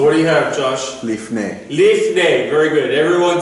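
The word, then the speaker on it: לפני: A lot of times you'll see it spelled with a PH, lifnei, like this, simply like that, lifnei.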